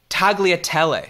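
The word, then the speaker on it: tagliatelle: I looked it up you don't even pronounce the G apparently there when uh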